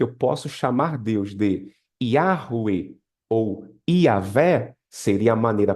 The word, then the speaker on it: Yahweh: Yuri, na sua opinião, qual seria a forma mais correta, né, de pronunciar o nome de Deus? Muito provavelmente é essa aí, ó. Yahweh, Yahweh, tá? Yahweh. Porém, essa outra forma, que é praticamente a mesma escrita, também é muito praticada. Iavé, Yahweh ou Iavé.